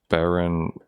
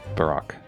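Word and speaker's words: Barok: Baroque is the Dutch word for Baroque, and it's pronounced like Baroque. Okay, so he's Baroque.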